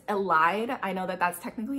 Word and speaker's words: Elide: Because one of my favorite like relationships in this entire book series is actually Elodie and Lorcan. And by the way, I'm only gonna say this once. I know that it's Elide.